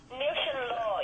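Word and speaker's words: Níl Sé'n Lá: One of my favourite tunes on the CD, and I excuse my pronunciation, Nushin La. Nushin Law, yeah, Which it actually means seize the day in Irish.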